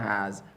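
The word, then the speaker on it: ح: Ha. Deep one is deep.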